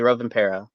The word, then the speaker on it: Rovanperä: I'm going to need your help with the pronunciation here, but the Finnish driver, I want to say Rovanperä. I hope I'm pronouncing that correctly. Yeah, Kali Rovanperä.